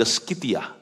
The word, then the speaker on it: Scythia: Bertahun-tahun kemudian, Andreas dituntun Roh Kudus pergi ke Skitia. Itu di sebelah selatan hari ini Rusia. Skitia itu nggak tahu saya ejaannya betul atau enggak.